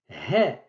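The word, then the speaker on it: ه: Ce n'est pas E, c'est plutôt he. C'est le H aspiré de l'anglais.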